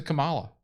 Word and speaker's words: Kamala: Terry Huber says, listen to Kamala. She's so educated. And I know I call her Kamala because I put the accent on the wrong part of the word.